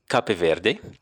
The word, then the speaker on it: Cape Verde: I like to call it Cape Verde. Americans call it Cape Verde. But the official Portuguese name and pronunciation is Cabo Verde.